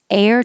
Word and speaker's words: heir: of these words are they sound exactly the same they both sound like air and this one heir to the throne the h is silent you start with the vowel a a air and this is also